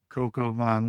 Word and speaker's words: coq au vin: Cocoa vine, one of my absolute favorite things to make,